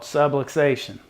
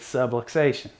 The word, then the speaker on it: subluxation: that we use called subluxation now I want you to take a second and pause and repeat after me subway station that's right subway station it rhymes with subluxation you'll never forget that